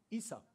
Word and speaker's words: Esau: How do you pronounce it? Esau, thank you.